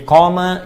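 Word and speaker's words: قام: Jadi qama yaqumu. Qama. Ingat, qama. Ya, bukan titik. Dan qama, panjang bacanya.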